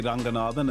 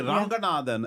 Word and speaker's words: Ranganathan: I'm here with my mom, Shanthi Ranganathan, and the team. What do you think of that pronunciation? I've gone for full Sri Lankan.